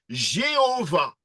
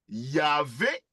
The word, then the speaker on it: Yahvé: La prononciation Yahvé correspond à l'expression primitive, alors que la forme Jéhovah, Jéhovah, est la transcription d'un terme hybride composé des consonnes de Yahvé, Yahvé, et des voyelles d'Adonai.